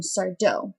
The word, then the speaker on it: Sardo: his character is um sardo he has the saying no Mister Accent on the dough then there's bettyanne she's